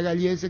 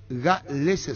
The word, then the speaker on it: Galese: Yo decía Gallese equivocadamente. También Denis, Víctor y Jorge el Niño. El apellido Óscar Acosta es Galese su pronunciación. Nos confirmó el señor Eddie Fleischmann. Es Galese, no Gallese, el arquero peruano.